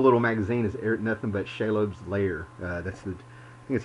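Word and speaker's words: Shelob: but this whole little magazine is nothing but shalom's lair uh that's the that's how you say it shiloh anyway you know it's the spider that everybody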